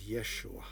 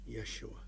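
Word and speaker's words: ישוע: we called him iasu which was the correct pronunciation in greek his actual name in hebrew is yeshua yeshua who is this jesus or who was well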